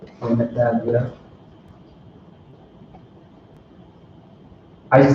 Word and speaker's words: Naphtali: Naphtali, yeah. I just say Naphtali. Yep, so Columbia to Uruguay. Actually, too, I went to college with Asher and Naphtali.